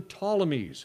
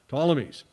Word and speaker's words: Ptolemies: the name of the ptolemies spelled with a p p t o l e m y ptolemies and what's the deal